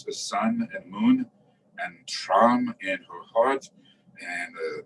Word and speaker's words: Tram: and moon disk with the seed syllable Tram, T-R-A-M, pronounced Tram.